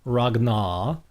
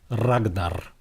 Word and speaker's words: Ragnar: The second one is that you have the rolling R. So it's not Ragnar, it's Ragnar.